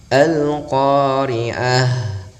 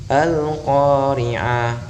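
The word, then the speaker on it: القارعة: Contoh, Al-Qari'ah, haknya berdesis, terdengar mengalirnya udara keluar atau udara nafas kita. Ketika kita tidak mensifatkan hamas maka kedengarannya seperti ini, Al-Qari'ah. Jadi seperti ain berharokat fathah dan ketika kita menayunkan jadi panjang.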